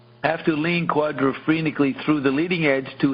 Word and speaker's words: quadrophrenically: No, not phenically, phrenically. have to lean quadrophrenically through the leading edge to help balance the vortex.